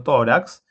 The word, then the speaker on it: tórax: penúltima sílaba por ejemplo tórax tiene dos sílabas tracks que es la última y que la penúltima como la mayor fuerza de voz está en la sílaba todo es decir en la penúltima sílaba y acabe en x